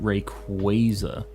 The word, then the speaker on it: Rayquaza: incident how you pronounced uh-oh if you don't pronounce it Rayquaza you're wrong I hate that um I've always